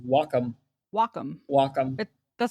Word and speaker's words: Wacom: always in my head I always said waycom I did too for the longest time yeah and I still do on occasion but yeah it's apparently pronounced Wacom okay yeah sure whatever